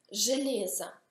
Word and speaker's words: железо: Железа, ferro. Si pronuncia железа, ma si scrive железо.